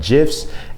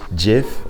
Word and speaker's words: GIF: And for the record, it is GIF, okay, and not GIF. The creator of GIF says that that is the pronunciation, okay? So stop saying GIF, it's GIF, like the peanut butter.